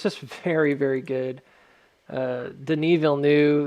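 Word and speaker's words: Villeneuve: very very good uh denil knew that's how you pronounced his name um you're wondering he's uh it's it's a for name right so for Americans we're like Denis VV um he's a very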